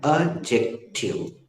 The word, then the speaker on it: adjective: और बेटा स्नेहा, एडजेक्टिव में डी का उच्चारण नहीं करते। सुनो, हम बार बार एडजेक्टिव बोल रहे हैं, गूगल बकायदा सही स्पेलिंग ले रहा है। हम बोल रहे हैं अजेक्टिव, एडजेक्टिव, एडजेक्टिव, एडजेक्टिव, लेकिन